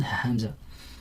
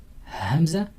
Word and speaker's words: Hamza: And the reason is because of this small letter, which is called Hamza. And it's pronounced by itself, the sound of the letter, it's A, but by itself is called Hamza.